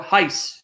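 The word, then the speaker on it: εἷς: Because it's the same Greek word, eis or heis, if you want to use the Erasmian pronunciation.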